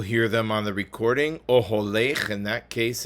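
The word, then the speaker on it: אָהֳלֵךְ: Oholech, in that case, it's both in the third line That's the second verse, third word. It is pronounced oholech. Ahalech wouldn't just be different, it would be really wrong.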